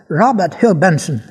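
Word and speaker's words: Robert Hugh Benson: Prononce à l'anglaise Robert Hugenson sous le titre de Le maître de la terre.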